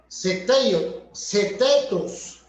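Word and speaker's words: θεότητος: Y la palabra, esta otra palabra, en el idioma griego, se pronuncia setetos.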